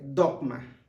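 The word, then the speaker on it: δόγμα: Y es curioso ver que en griego la palabra ordenanzas se pronuncia dogma, que es precisamente lo que tenemos nosotros hoy en día o que conocemos como dogmas.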